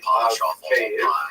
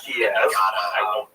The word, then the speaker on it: Kyiv: That's the Ukrainian pronunciation, by the way. That's favored today because, of course, Ukraine is extra slices of pizza. But it used to be called in English Kiev, which is closer to a Russian pronunciation because Russia dominated much